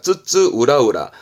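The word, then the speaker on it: 津々浦々: 훈으로 쓰는 부분들이 있는데 요거 발음이 좀 어렵습니다. 쯔쯔 우라우라입니다. 쯔쯔 우라우라.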